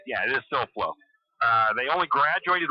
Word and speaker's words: Silflo: I don't want to pronounce anybody's names wrong. Yeah, it is Silflo.